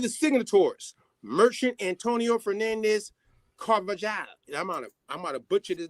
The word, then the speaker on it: Carvajal: Yo, it's like a hall. It's like hall. Carvajal. That's how you say it, yeah. You know how them J's is.